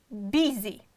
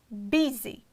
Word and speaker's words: busy: For example, busy, busy, E. You see, Y sound is pronounced like E. And the first one is B, it is strong syllable and it's stressed, and the next syllable is unstressed, therefore we'll pronounce like a short E, busy.